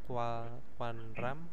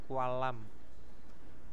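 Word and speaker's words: 관람: Nah, ini bukan Kuanram tapi Kualam.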